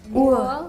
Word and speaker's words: Uhr: Uhr. You don't pronounce the R too hard there. R is like half silent.